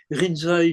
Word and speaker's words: Rinzai: C'est-à-dire Lincy, c'est le nom chinois, Rinzai, c'est la prononciation japonaise d'un courant.